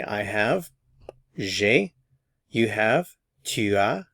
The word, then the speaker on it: tu as: You've learned how to say I have, j'ai, you have, tu as. Notice we're not pronouncing the S.